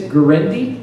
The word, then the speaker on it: Guarendi: Italian by the way you asked how to pronounce my name the reason it's greny cuz that really doesn't sound Italian my grandfather came here